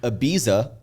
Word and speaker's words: Ibiza: when I went to Ibiza I get yelled at when I'm there because they're like no it's Ibiza yeah but when I'm here I say Ibiza people like you sound